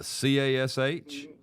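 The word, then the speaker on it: cache: Uh C A S H. Uh wrong. Wrong again. Okay. Okay. Uh it's spelled C A C H E. Like cash a cash. Okay.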